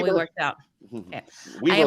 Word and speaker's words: Weber: Weber, like wibbly wobbly people. Weber.